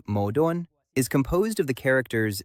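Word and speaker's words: 矛盾: The Chinese word for contradiction, pronounced something like modon, is composed of the characters spear and shield.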